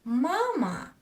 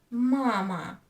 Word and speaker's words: мама: When I say the word mama, mama, I don't pronounce these two syllables equally. One of syllables I pronounce longer than other.